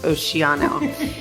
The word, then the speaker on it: Oceano: uh thank you um the name of the winery is oano or it can be pronounced Oceano see the the the town of oano California is um uh you know it's it's a Spanish word and so there are